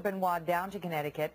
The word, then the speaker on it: Benoit: Chris Benoit, I was pronouncing that incorrectly earlier, killed his wife and his 7-year-old son before committing suicide in 2007.